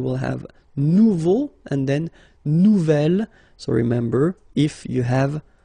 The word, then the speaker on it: nouvel: J'aime mon nouvel ordinateur. Nouvelle, phonetically, you pronounce it like the feminine version, but then you write it N-O-U-V-E-L.